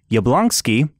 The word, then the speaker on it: Jablonsky: soundtrack was composed by steve yablonsky that is how you actually pronounce it and was submitted by